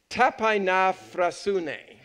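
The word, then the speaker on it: ταπεινοφροσύνη: The old word, the Greek word here, which I'd like us all to kind of pronounce if you kind of join with me on it, is tapainaphrasune.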